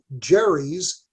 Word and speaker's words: gerrymander: salamander and okay and somebody came up with the label that is gary's we pronounce it jerry's salamander right so the verb gerrymander